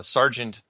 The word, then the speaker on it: Sargent: people miss it is because strange is one syllable and Sergeant is two and most people completely